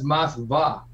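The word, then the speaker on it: Moskva: Actually, in Russian, it's Mosva.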